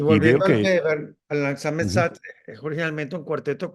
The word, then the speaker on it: Langsamer Satz: ¿Cómo se pronuncia eso? Langsamer Satz.